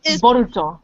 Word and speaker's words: Boruto: The Japanese pronunciation of Bolt is... Yes, Boruto.